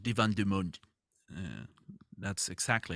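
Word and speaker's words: Divan du Monde: Paris at a very old place it's called Divan dumund uh that's exactly how you pronounce it uh how do you put that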